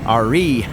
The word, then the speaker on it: Ari: up to re station spelled Ari pronounced re Hopefully the rain will